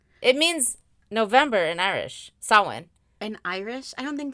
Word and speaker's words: Samhain: It's actually pronounced Samhain. Oh, so I did it wrong. But you know what? I would have pronounced Samhain. It's Samhain. Samhain. Yeah. No, it's pronounced Samhain.